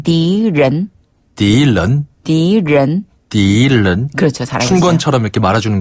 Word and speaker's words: 敌人: 적자를 중국어로 디라고 읽어요. 디. 그리고 사람을 른. 른. 네, 사람 인자를 른으로 발음해서 적은 디른. 디른. 디른. 디른. 네, 여기서 른 발음은 혀를 살짝 말아서 입천장에 달랑말랑.